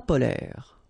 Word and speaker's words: polaires: So same thing here. E and S are not pronounced.